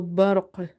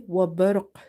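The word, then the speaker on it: برق: So barq, barq, qalqalah will be strong because your word is ending with the qalqalah letter and letter itself is silent because we have to pause here. So you will say wabarq, wabarq, Qalqalah will be weak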